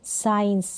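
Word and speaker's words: science: साइंस में आप देख सकते हैं यहाँ पर C का उच्चारण जो है दिखाई दे रहा है, नहीं। S का तो उच्चारण आ रहा है स से, साइंस। C क्या है, यहाँ पर साइलेंट है।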